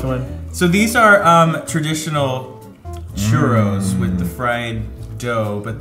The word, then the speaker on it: churro: I mean, you can never go wrong with the churro. Right? Gotta remember to roll those R's.